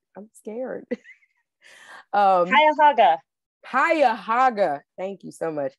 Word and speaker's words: Cuyahoga: Justice on the, I'm going to say this name wrong, I'm scared. Cuyahoga.